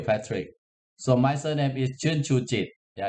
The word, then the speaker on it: Chernchujit: you thank you patrick so my surname is chun chuji yeah it's not easy right so thank you